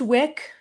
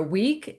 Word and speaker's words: Wieck: Uh, pronounced Wick, right? I like to say I shine bright like a candle wick, but um I I have never actually said that.